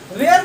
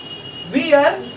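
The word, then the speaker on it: wear: वेयर कैन वी find kids वियर, वियर इसको हम लोग नहीं पढ़ते हैं, वेयर पढ़ते हैं। आज से धीरे धीरे प्रोनाउंसिएशन को आप लोग ठीक करिए, किड्स वेयर, गर्ल्स वेयर।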